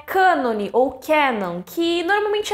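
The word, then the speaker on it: κανών: falar de escrituras religiosas a palavra em si vem do grego é isso o que está escrito na tela que eu não sei pronunciar mais que diz que a pronúncia mesmo é cânon e ela falava que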